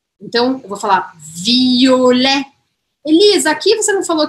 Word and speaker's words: violet: Aí, a gente tem roxo, é violet. Violet, violet. O que, que eu não pronuncio aqui? O T no final.